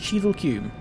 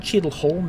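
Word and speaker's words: Cheadle Hulme: I believe it's pronounced Cheadle-Hulme. It's not Cheadle-Holme, is it? Because it's one of those weird northern names where you don't pronounce the L or something like that, possibly.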